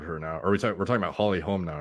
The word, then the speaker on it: Holly Holm: We're talking about Holly Holm now, right? Yeah, I think it's Holmes, ES. It's not. It's not? No, you've been pronouncing it that way for years.